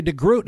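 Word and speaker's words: de Groot: today the defending Champion Victoria deg Groot is it that's the way you pronounce her name yeah Victoria deot that's correct she opened up opened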